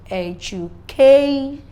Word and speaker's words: education: In the word education, you will agree with me with the analysis I gave that the stress is on the K. So if I'm pronouncing the word, I will have education.